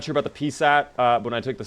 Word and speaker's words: PSAT: What's wrong with the way I'm saying PSAT, by the way? That's how you say it. That's how you say the letter P and SAT.